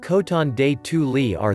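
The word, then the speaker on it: Coton de Tuléar: Pronounced Coton de Tulier, this dog is also known as the Royal Dog of Madagascar.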